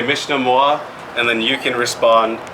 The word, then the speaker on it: Mishnamwa: This is Mishnamwa.